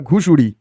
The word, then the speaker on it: ঘুষুড়ি: পশ্চিমবঙ্গের প্রথমে, right answer ঘুষুড়ি হবে, এটা ঘুষুড়ি। লেখাটা উচ্চারণটা ভুল হয়েছে, এটা ঘাগুড়ি নয়, ঘুষুড়ি।